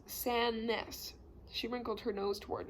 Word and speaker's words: Sandnes: name it's spelled s-a-n-d-n-e-s the d is silent so it's pronounced san ness she wrinkled her nose toward me i know it's weird let me show you around mrs sannis said she reached for